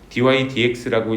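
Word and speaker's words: dy/dx: 그래서 이게 통으로 된 기호고 dydx라고 읽어 줍니다.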